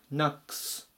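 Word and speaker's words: knocks: な 3 単元の S をつつけるとここは普通に S つけてナックスという風に発音します前が濁らない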